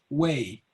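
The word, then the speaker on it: Wei: and actually uh then my name is pronounced way way okay yeah easy to remember just remember the uh i was at being cosby so i'm going my way and there won't be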